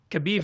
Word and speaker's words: Khabib: So, this is how you pronounce it. Nurmagadov. Kabiv.